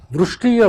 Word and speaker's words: Vrushti: How do you pronounce your name? Vrishti or Vrishti?